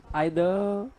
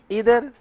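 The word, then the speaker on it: either: अच्छा फिर क्या लिखा है, आइदर है, ये इधर एंड नीदर नहीं है, इसका उच्चारण होता तो इधर एंड नीदर, बट अपना वाला नहीं है। कौन सा है, बाहर आप सुनते हैं तो इधर नीदर बोलते हैं, अमेरिकन स्टाइल में होता है, लेकिन हाँ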